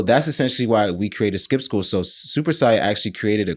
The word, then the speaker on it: Skip Skool: So, that's essentially how Skip School came about. And Skip School is spelled S K I P S K O O L, right? We actually we actually decided to purposefully misspell the word school.